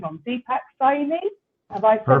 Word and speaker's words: Deepak: Deepacy. Have I perfect? Awesome. Nothing worse than getting somebody's name wrong.